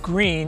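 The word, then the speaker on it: Gruene: our historic district of green it's pronounced green even though it's spelled differently again another one of our German surnames so green is a hot tourist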